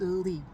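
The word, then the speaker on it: לי: And another thing that I think it represents is in this word vayashlichem, it's li, it's a lamed that says, pronounced li, which is to me, meaning that we are God's people and he is our God.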